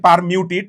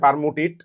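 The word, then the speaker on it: Permutit: Exchange বা পারমুটিড পদ্ধতিতে উচ্চারণটা বেসিক্যালি পারমিউটেড বাংলায় বলে ফেলছে পারমুটিট। সো লিখবো আমি পারমুটি বাট উচ্চারণ করি পারমিউটেট।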